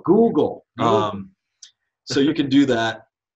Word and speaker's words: Google: I think there's this thing called Goggle. Am I saying it wrong? Yeah. Oh, Google.